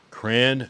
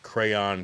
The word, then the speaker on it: crayon: Cran, crayon, crown. The fact that people say crown is crazy.